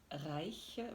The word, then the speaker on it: Reich: vivant aujourd'hui il s'appelle steve reich bon je le prononce à l'allemand mais peut-être que vous diriez steve bon si vous deviez